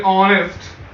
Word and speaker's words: honest: If I say honest, H is my consonant, but here H is silent.